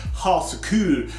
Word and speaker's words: ha så kul: people will be like, Swedes will be like, no, it's ha så kul. And I'm like, yeah, ha så kul. And they're like, no, I know I'm not saying it right still. I'm trying to get that U.